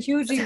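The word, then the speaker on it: Huger: But I've seen Hugie with two E's at the end instead.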